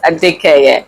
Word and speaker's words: Adekeye: ADEKEYE. Did I pronounce that right? Yes. Yes, ADEKEYE.